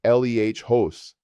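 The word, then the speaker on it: lejos: Here far is leos pronounced l eh hos. The j in Spanish makes an h sound like the h in house.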